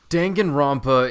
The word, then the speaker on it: Danganronpa: Danganronpa is niche though, and that is how you say that word.